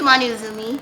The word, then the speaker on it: Manou Azumi: the artist for Vixen, but My name is Manou Azumi. Okay, I didn't want to mispronounce.